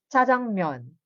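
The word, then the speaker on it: 짜장면: But the sound it produced, it's TS. Jajangmyeon. Okay? Hindi mo naman mapropronounce ang double J, like jajangmyeon. Hindi naman ganun, right? So, it's jajangmyeon. TS.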